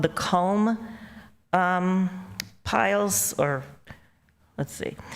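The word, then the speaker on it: culm: they were called the comb piles, or let's see. So it's spelled C-U-L-M. I can remember vaguely them talking about the home dumps, but I just thought they were saying column.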